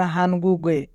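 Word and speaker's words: 한국에: এখানে বাচিমের পরে ইয়ং আছে, তাই বাচিমটি ইয়ং এর স্থানে যাবে, অর্থাৎ গিয়ক ইয়ং এর স্থানে যাবে, তাই উচ্চারণ হবে হানগুগে।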